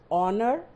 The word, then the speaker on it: honor: That is why kids, whenever we write words like honor, honest, are, although they start with a consonant, but the sound is vowel because the letter H is silent.